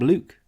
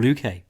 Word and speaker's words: Luque: and basically boxed up luke or luke people get mad if i say it wrong and i like to say it both ways to get everyone mad but that also set